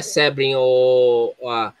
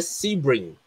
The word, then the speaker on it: Sebring: Não é Sebring, se pronuncia Sebring. E a grafia tá errada. Sebring, não é, o E não tem um acento agudo, AVC. O E não tem acento agudo, é Sebring.